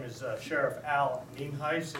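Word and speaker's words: Nienhuis: Uh for the record, for those of you who are videotaping, my name is Sheriff Al Ninheis. It's pronounced mean heist and it's spelled N I E N H U I S and I am the sheriff from Fernando County.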